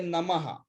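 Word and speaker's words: नमः: If it is A, it is aha. Like Om Namah, Om Shri Ganeshaya Namaha.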